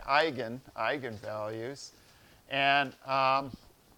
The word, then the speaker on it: eigen: values and eigen vectors eigen is a German word and so you pronounce it with kind of a German accent instead of Egon you don't you don't